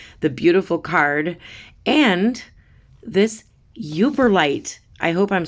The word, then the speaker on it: Yooperlite: not only that the beautiful card and this uber light i hope i'm saying it right i'm gonna look it up hang on thank goodness i was saying it right it's a uber light it's a stone found along uh lake superior